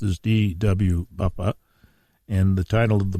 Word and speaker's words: Buffa: This is Conversations on the Coast, and our guest today, properly pronounced, is D.W. Buffa, and the title of the book is Breach of Trust, another Joseph Antonelli novel.